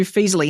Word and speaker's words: Feezily: So Some people mispronounce and call it Feezily. I don't know. They add an R in there.